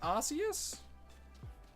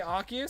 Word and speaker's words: Arceus: I think it's pronounced Arceus. Because it's like A-R, you say the C and then E-S.